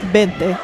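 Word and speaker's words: veinte: Vente, but like more with a B if you're wonder. Yeah. Bente like that.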